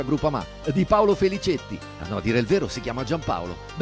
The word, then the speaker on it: Groupama: Ah no, si pronuncia Groupama.